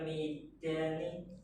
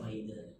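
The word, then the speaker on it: ميدان: Fi fi hadal mi fi hadal midani Maidan apa Midan? Maidan.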